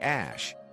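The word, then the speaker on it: Æ: Musk explained on the Joe Rogan Experience podcast that X is pronounced like the letter, while AE is said like Ash.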